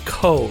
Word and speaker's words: Kho: But here's a little secret:, and the last name is pronounced Kho, right?